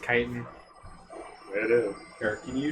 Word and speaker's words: chitin: I hate that it's pronounced chitin.